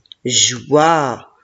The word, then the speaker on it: joie: Je, wa, joie, et la lettre E à la fin, je ne la prononce pas.